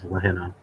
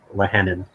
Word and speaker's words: Lahenna: The way it's pronounced is Lahenna or Lehenin.